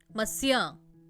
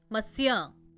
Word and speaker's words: monsieur: Spelling और pronunciation में बहुत डिफरेंस है, ध्यान दीजिए। मसिया, मसिया।